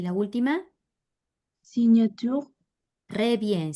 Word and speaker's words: signature: ¿Cómo suena la GN, Lucía López? Suena en ñ. Entonces, ¿cómo reemplazamos aquí? Sauvignon, Muy bien, seguí. éloigner, Muy bien, éloigné, no pronunció la R. Y la última, signature, re bien, signature.